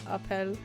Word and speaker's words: Appel: seems to think uh my Appel rhymes with my Apple my Appel my Appel